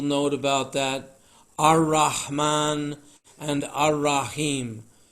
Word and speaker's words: Ar-Rahim: If you write the letters out, it's AL-Rahman and AL-Rahim. But if you're replicating the sound of the words, then you want to shift that L to R, as we have it here, Ar-Rahman, Ar-Rahim. That's the right way to say it.